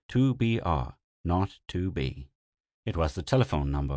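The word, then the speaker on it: 2BR02B: were supposed to call the zero in the telephone number he pronounced not the number was 2BR not 2B it was the telephone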